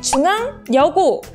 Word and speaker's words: 중앙여고: 중앙여고 발음하면 네, 중앙여고, 제1여고 발음하면 제1여고로 발음되는 걸 확인해 볼 수 있습니다. 그러면 과연 뭐가 첨가됐을까요? 중앙여고부터 확인해 보면 네, 중앙여고, 니은이 첨가됐다는 걸 알 수 있죠?